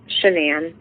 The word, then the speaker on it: Shanann: Shanann. Shanann, okay.